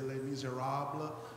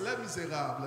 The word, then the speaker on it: Les Misérables: In English, I love when they pronounce it, they say Les Misérables, but it's Les Misérables.